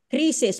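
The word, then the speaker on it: Croesus: check online and I've it says that it's pronounced King Crisis parang krisis ng damit Kris krisus Crisis Okay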